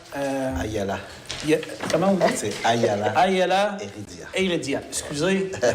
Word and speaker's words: Ayala: C'est Ayala. Ayala Heredia. Excusez la prononciation.